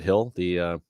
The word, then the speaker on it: Gil: I don't know if it's Gill or Hill. I think you're supposed to pronounce it Hill. Yeah, something like that. Hill. If you're Spanish, it's Hill. If you're English, it's Gill.